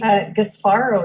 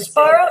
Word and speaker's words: Gasparo: just saying it funny her last name is pronounced like an Italian how would you pronounce her last name are you gasparo is how I would gasparo and that's what I